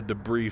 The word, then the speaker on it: debris: vulture easy uh so do you pronounce it DeBry or DeBry I say Deborah yeah I call it a debris field So Silent s sure but mostly just